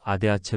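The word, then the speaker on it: ADAC: adh 관련 내용을 찾아보겠다 adh 독일어로 아데아체 발음한다 독일은 타이어펑크 등 긴급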